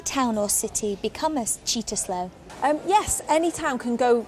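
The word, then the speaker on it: Cittaslow: citta slow status and it's pronounced cheetah slow and yes we do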